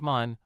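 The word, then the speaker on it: มัน: in a derogatory way sounds like man rhymes with fun be cautious this is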